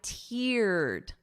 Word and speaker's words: tear: Now look at this sentence and notice my pronunciation. First notice is the exact same spelling as we just saw here for tear up a person's yard or tear up a piece of paper. But listen to the pronunciation. I teared up ear so I wrote it out phonetically for you ear. So that long E sound, I tear it up.